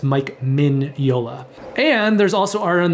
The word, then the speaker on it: Mike Mignola: a lot of people think his name is pronounced mike mignola but they're wrong it's actually pronounced mike min yola that's how you pronounce his name i think